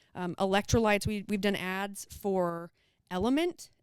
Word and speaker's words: LMNT: we've done ads for element lmnt is how it's on that's how it's spelt for their logo but element has a